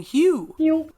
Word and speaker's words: HU: Then begin to sing Hugh. Pronounced like the word hue.